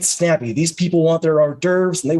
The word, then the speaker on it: hors d'oeuvres: these people want their hors d'oeuvres and they want them now horse they're discovering right now that's not the proper pronunciation but i'm gonna let